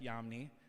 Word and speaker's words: Yamni: actually the title track from my newest project, Yamni, spelled Y-A-M-N-I. So, just in case you don't know how to spell that for some reason, but it's all good.